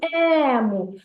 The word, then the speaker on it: ему: давайте визначимо ще наголос куди падає наголос у слові ему а ну погукайте це слово ему всі погукайте слово е е так правильно на е на перший склад Молодці розумнички так наступне